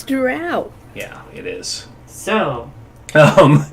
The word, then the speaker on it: drow: But I will stab anybody who tries to say it's dro and not drow because that is just fucking wrong. It's drow.